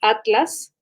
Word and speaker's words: atlas: de la web como atlas no sé cómo lo programamos en ustedes en colombia pero los españoles pronuncian a las en una separación de momento nosotros atlas o sea que se